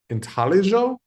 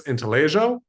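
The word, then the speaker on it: intaglio: I do believe the correct pronunciation is inaljo. Um, I do believe it's Italian. And Italians, just like lasagna, uh, don't really pronounce their G's. So, I believe it's intellig.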